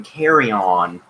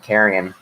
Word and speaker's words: carrion: but oh my god is his pronunciation carry on carry on instead of carrion give some pronounce do